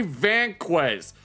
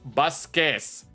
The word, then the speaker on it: Vasquez: It's Vasquez. Vasquez is how you say this name. Whenever the letter V comes after a consonant, you gotta pronounce it B.